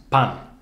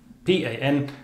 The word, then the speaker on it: pan: The standard central Iberian pronunciation of the word bread, for example, is pan, pan, P-A-N, and it's a normal N sound. But here on the islands, we very often hear pan, pan, almost like a G sound.